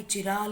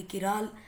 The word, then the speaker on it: chiral: इट कैन बी चिराल, इट कैन बी किराल, what ever you feel like, house ever you want to pronounce it.